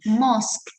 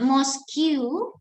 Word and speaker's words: mosque: are muslim so we must know how to pronounce this word it's called mosque yeah can you follow after me mosque not moscu okay i know some of you know it's